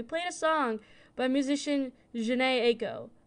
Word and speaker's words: Janae: In last episode's concluding statements, I noted that we played a song by musician Janae Aiko, but I pronounced her first name as Jean. My apologies to Janae Aiko for this mispronunciation.